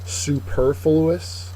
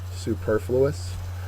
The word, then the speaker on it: superfluous: pronounced a little weirdly Superfluous Superfluous uh and if you pronounce it correct LLY you'll get the accented Mark right uh it's an adjective second syllable has the accent uh it's exceeding what